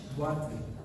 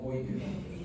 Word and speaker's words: boîte: En francés es boîte, ¿no? Boîte. Entonces, en francés es boîte, ¿no? Pero acá se pronuncia como boite.